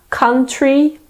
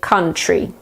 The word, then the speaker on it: country: of country that's awesome some people pronounce the T quite clearly so they will say country whereas other people say it more like it sure so they say country country or country either